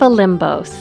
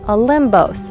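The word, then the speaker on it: Όλυμπος: mountains in search of O limos not to be confused with olympos where the Greek gods rule a limos pronounced with a B is not only one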